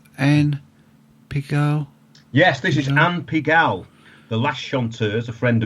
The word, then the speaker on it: Anne Pigalle: We've got, how do you pronounce this? Anne Pigalle? Yes, this is Anne Pigalle, the last chanteuse, a friend of mine.